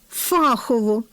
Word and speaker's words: фахово: Отже, необхідно запам'ятати ці однокореневі слова в такому порядку: фахово з наголосом на першому складі.